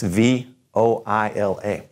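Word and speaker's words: voilà: have an O I when we see an O I together in French it's gonna have that ha sound you ever heard anybody say Oh wah Oh wah lah there it is there you have it this v/o i la voila same thing anytime oh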